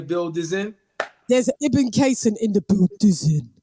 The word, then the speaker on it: Ibn Cason: So, you know, as we do, without further ado, I'm introducing, introducing, IBN CASON. What up? Hopefully I didn't butcher your name, because, you know, is it IBN CASON? You said it right.